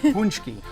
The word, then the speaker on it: Pączki: Minooka Pastry to learn how to make and pronounce these delicious Polish pre-Lenten treats. Well, Bob, how do you say it? Pączki.